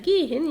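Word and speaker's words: gehen: زي عندك فعل جيهن يعني يذهب، عندك قبله حرف متحرك وبعده حرف متحرك، فبنقول جيهن. جيهن. زيهن.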